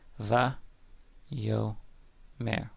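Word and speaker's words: וַיֹּאמֶר: So we have va. You have to read this part left to right, and then then move over to the next one, moving to the left. Va, yo, mer.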